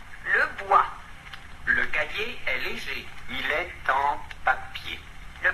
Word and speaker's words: léger: Attention, léger, on ne prononce pas le R et on écrit E, pas d'accent.